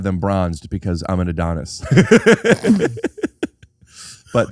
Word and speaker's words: Adam: A-D-A-M pronounced Adon.